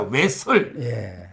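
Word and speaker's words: 외설: 예술이 아니고 예술이 아니고 왜 설입니다 왜 설 발음을 잘해야 돼요 예술이 아닙니다 이거는 명예훼손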